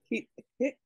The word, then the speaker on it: hit: This word to mean under or underneath, like in Tlingit, the W is not pronounced. So we have hit, we round our lips at the end, hit, hit, hit, hit.